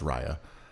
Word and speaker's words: Raya: Well, it's pronounced Raya.